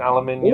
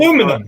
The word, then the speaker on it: aluminium: Shall we try pronouncing aluminium? Aluminum. Correctly? No. Shall we try pronouncing it correctly, I said? Aluminium. Thank you. There's another I in there. Yes, aluminium.